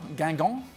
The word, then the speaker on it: Guingamp: Guingamp. Gangon.